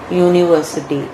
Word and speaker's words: university: Though there is A-E-I-O-U vowel, but it is pronounced as university, and so as consonant sound, and so we are using a there.